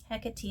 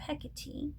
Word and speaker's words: Hecate: Hecate is the more contemporary pronunciation. But since I have Hecate, and she was named after Hecate, I had to do this one.